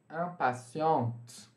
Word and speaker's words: impatiente: Aí, por causa da existência desse E, nós vamos pronunciar a letra anterior, que é o T. Tá bom? La femme du signe du bélier est impatiente.